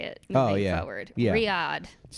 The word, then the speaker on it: Riyadh: some comics are getting criticized for uh uh doing the um that comedy festival in in Riad.